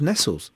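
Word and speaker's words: Nestlé: a kid, it was Nestles. Yeah, it was Nestles. Nestles Milky Bar. Yeah. It was. But, well, they anglicised their pronunciation on purpose.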